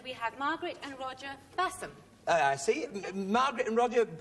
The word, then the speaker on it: Bassam: And we have Margaret and Roger Bassam. I see. Margaret and Roger, it says Bashamir, but it is Bassam. Oh, it is Bassam. Oh, I see. That's the way it's pronounced.